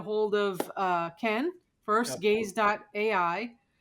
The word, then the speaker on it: GAIZ: Um, G A I Z is how you spell it. Gaze G.A.I., right?